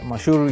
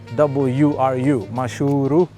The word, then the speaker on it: Mashuuru: Mashuuru is spelled M-A-S-H-W-R-U. Mashuuru, it's a Maasai word, sub-county of Kajiado County.